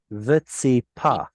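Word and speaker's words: וְצִפָּה: Did you make a P sound here? Vetsipa.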